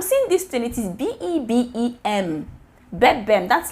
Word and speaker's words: Bebem: Like, I'll go to market, I'm seeing this thing, it is B-E-B-E-M. Bebem, that's like my baby. Yes, that's my baby. Bebem, guys, is that so?